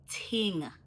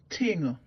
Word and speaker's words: ting: And I don't want to hear you guys saying thing anymore, okay? We're gonna work with the patois because remember, I'm teaching you how to pronounce the words properly. So no more thing. I wanna hear ting.